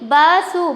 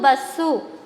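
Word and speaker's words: బస్సు: Here see basu. Basu is the right. No, here double sound come, that's why we are writing here Savattu Bassu.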